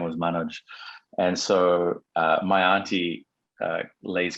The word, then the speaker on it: Manoj: Yeah, it's actually pronounced Manoj, and it was given to me by my auntie, who was in love with an Indian movie star.